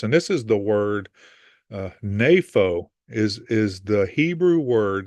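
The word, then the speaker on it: νήφω: So this is Strong's Concordance, and this is the word napho is the Hebrew word. That's how you pronounce it, napho, for the word that they use to be sober.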